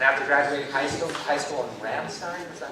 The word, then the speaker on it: Ramstein: And after graduating high school in Ramstein, is that how you say it? Ramstein, Germany. What was that? Rammstein.